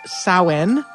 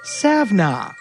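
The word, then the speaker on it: Samhain: First, there's the Celtic Festival of Sen, which is spelled Sam Hayne, is usually pronounced sen, and sometimes pronounced savna, but that will not stop 400 people from writing in to tell me that I've said it wrong.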